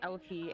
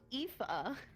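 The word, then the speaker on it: Aoife: yeah Alie okay so I thought it was pronounced Alie a o i f e so Alfie um it's a it's apparently pronounced epha um and it's Welsh for yeah it's it's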